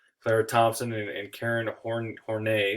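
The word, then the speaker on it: Horney: thompson and karen horn hornay is how you pronounce her name said womb envy uh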